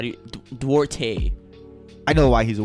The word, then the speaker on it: Duarte: my wild card is chris how do you duarte i know why he's a wild cause that's how you say his name right yeah chris duarte duarte i know why he's a wild cause why